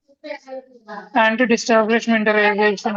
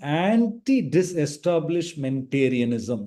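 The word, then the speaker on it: antidisestablishmentarianism: Anti-establishmentalization and Very good. I think Abhilash, someone said, yeah, very good attempt. There are a small modification. Anti-disestablishmentarianism is the right pronunciation.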